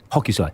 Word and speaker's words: Hokusai: Is the chap who painted the Great Wave, I can never pronounce his name, Hokusai? Hokusai.